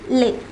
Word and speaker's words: les: that is in plural will be preceded by lay for example we saw the word garson for